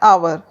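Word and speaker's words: hour: अब second rule है जिन शब्दों में एच साइलेंट रहता है तो उनसे पहले एन का प्रयोग होता है फॉर एग्जांपल एन आवर अब यहां पर आवर एच से शुरू हो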